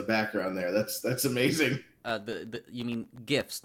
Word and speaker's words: GIF: interface something okay yeah gif not jiff I mean how do you say giraffe then oh yes GI you pronounce a G but if it's gr you pronounce it ger hi topics of conversation